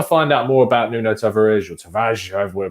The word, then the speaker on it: Tavares: pronouncing it, I mean, I've been told time and time again that you don't actually pronounce the R from listening to other pronunciations, so it comes across as Tavares, which is, I don't know, I don't speak Portuguese, but I'm told that it's not really, you don't pronounce the R as a hard R, so we'll get used